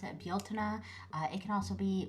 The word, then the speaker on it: Bealtaine: Um, so as you can see, uh, I pronounce it Baltina. Uh, it can also be more like Bjuna.